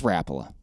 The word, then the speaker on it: Rapala: rapala i was like oh snap i've been saying it all wrong it's rappola why would it be rapala because it is i think you're putting the emphasis on the wrong syllable r-a-p or whatever that is ala i think rapala my